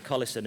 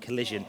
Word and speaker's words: Collison: notice pectin mark but the pronunciation of Collison is Collison and not collision and the only reason